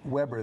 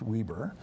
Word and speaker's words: Weber: It's spelled like Weber, the charcoal grill people, but it's Okay. pronounced Weber, where he is the librarian's archivist.